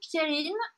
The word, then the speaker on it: Pierrine: Et mon prénom, Pierrine, _MLR.